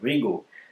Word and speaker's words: Rigol: of arrival or housing should be the right pronunciation Ringo then double to Z in the first part